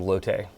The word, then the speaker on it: Lotte: There was a female character named Lotte that, I guess since we're a Korean company or a Korean brand, that through the pronunciation became Lotte.